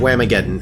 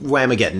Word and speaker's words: Whamageddon: So we're sitting here discussing Whamageddon, and Yeah.